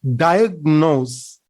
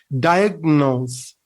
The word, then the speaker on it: diagnose: make a pronounced diagnosis we hear that people tend to mispronounce making noise we don't say diagnose no it's wrong we say we have to say that one diagnose diagnose say it correctly diagnose the first syllable is stressed so you know what